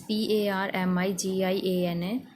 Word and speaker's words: parmigiana: It's Parmigiana. So the pronunciation is parmigiana. You can call it Parma or Parmi.